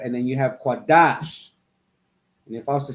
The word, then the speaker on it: Qadash: This connector lets you know that they're joined together, they come together, and they're pronounced Dash, Qadash, right?